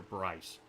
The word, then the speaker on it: Bryce: Now, I've been calling him Peter Bree, but something tells me he corrected me last time, and it's like Peter Bryce. I think it's literally how you say it.